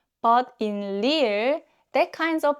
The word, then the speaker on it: 리을: When you pronounce 리을, you should never curl your tongue like you do for the English R.